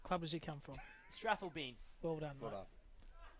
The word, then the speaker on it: Strathalbyn: Can you pronounce that club name for me, Jim? What club does he come from? Strathalbyn.